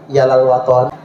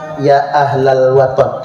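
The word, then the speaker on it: Ya Ahlal Wathon: Saya di akhir Bapak Ibu hendak menjelaskan sedikit tentang Yalal Waton. Yalal Waton, Yalal Waton, Yalal Waton, hubul waton minal iman. Ya ahlal waton. Kita kan nyebutnya Yalal Waton deh, karena pelafalan lagu.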